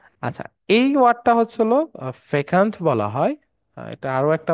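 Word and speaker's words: fecund: আচ্ছা ঠিক আছে আচ্ছা এই ওয়ার্ডটা হচ্ছে হলো ফেকান্ট বলা হয় এটা আরো একটা উচ্চারণ সম্মত আছে ফেকান্ট যদি আমরা আসি এই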